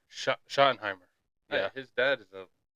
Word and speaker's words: Schottenheimer: Schottenheimer. Schottenheimer.